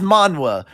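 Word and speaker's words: manhwa: Japanese not confuse yeah Japanese is manga Korean is Mana we're not saying it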